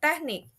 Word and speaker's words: technique: Meanwhile, in the word of technique, the stress happen at the end of the syllable or at the end of the word ya. Kayak teknik, teknik, teknik, teknik, teknik ya.